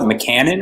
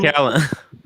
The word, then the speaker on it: Macallan: What does he call it? McCannon or something? Macallan.